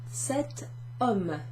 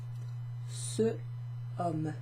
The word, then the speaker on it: cet homme: But here we have cet homme. So it would be difficult to pronounce. Ce homme, ce homme, ce homme. So we add a little T in there to make it easier to pronounce.